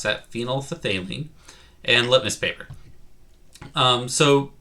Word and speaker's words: phenolphthalein: to be ph paper phenolphthalein that's how you pronounce that phenolphthalein and litmus paper um so ph paper is